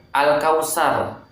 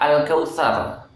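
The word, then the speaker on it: الكوثر: Sin ini juga salah ya, harusnya sa. Al-Kautsar, beda ya, bukan Al-Kautsar tetapi Al-Kautsar. Bedakan antara sa dengan sa, ini sangat berbeda sekali ya.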